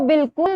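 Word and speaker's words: بالکل: इसके अलावा बिल्कुल में अलिफ आता है, लेकिन अलिफ की आवाज जो है वो साइलेंट होती है, इसलिए बहुत सारे बच्चे इसे गलत लिख देते हैं।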